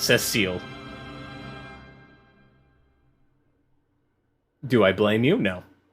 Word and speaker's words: Cecil: Have you been saying it wrong? Yes, you've been saying it wrong if you've been saying Cecil. It's Cecile.